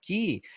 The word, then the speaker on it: quay: oh by the way quay dot io or key dot io depends if you're british or american or how you pronounce it and i've learned it that it that you have to pronounce with key because my hotel when